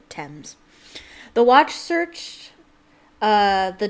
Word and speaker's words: Thames: floating in the thames see what i mean by the th they pronounce i know that looks like thanes but they pronounce it thames the watch searched uh